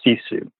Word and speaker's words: sisu: There's a word that I learned from Top Gear a few years back, and it's a Finnish term, and it's pronounced sisu, S-I-S-U.